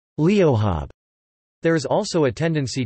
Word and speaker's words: leo: pronounced as acube and leo pronounced as leohab.